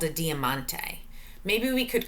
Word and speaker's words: diamante: diamante poems okay so first try to say it diamante your turn let's clap it out diamante four syllables diamante poems now I'm